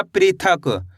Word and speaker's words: पृथक: तो मिलके बन जाएगा पृथक।